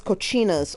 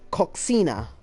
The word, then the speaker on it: coxinha: food is delicious here it says Kachinas or it's spelled with an X yeah yeah it looks like if we were to say it in English if we were to pronounce all the letters in the word it looks like coxinha yeah but it looks